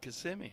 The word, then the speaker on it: Kissimmee: That's how you say it, Kissimmee. Kissimmee, Florida. Here's the pitch, and it's outside, ball 1. 1-1. I taught in Florida for a year, many years ago, and one of my students was from Kissimmee, and she taught me how to say it.